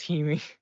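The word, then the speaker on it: Hime: whole different one called Heim now you're coming back uh or if we go by the proper pronunciation it's Hemi it's it's very confusing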